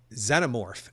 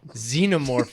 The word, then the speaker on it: Xenomorph: no just I Dead Xenomorph is how I would say it right yeah right because that's how we say xenophobic or xen ever right and I often